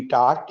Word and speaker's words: taught: टाट, TAUGHT, टाट, इसमें यू जी और एच तीनों लेटर्स साइलेंट हैं।